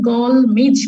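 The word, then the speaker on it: gall midge: নাম হচ্ছে ইনসেক্টটা হচ্ছে গলমিজ বলে, এটাকে উচ্চারণটা কিন্তু একটু মনে রাখবা, GLMIZ, এটা হচ্ছে মিজ।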